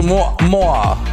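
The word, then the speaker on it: moiré: So, this is a Moya Moya Moyer pattern. How do you even say that? Mua. It's a moah. Apparently, that's how you say it.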